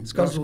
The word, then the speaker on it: Escazú: E pegando esse gancho da América do Sul, eu queria perguntar sobre o Acordo de Escazú. É essa a pronúncia correta? Sim. Escazú, né?